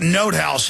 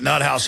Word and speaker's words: Nothaus: By the way, it's pronounced Note House. He corrected me, but I guess you can call it Nut House if you want.